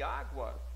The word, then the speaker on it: água: Em cima, vocês viram que água, vocês viram que na palavra guerra, coloquei GU fazendo um dígrafo. Mas em água, não tem. Água. Eu pronuncio o G e pronuncio o U. Então, aí já não é mais dígrafo.